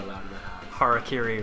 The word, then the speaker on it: harakiri: Harakiri right now. That would be offensive if I mispronounced it as Harry Carey. Harry Carey. There are some people who like truly mispronounce it as that.